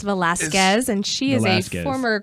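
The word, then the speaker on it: Velasquez: you can't get in PH Jackie Velazquez it's pronounced of Velazquez and she is a former Christian music artist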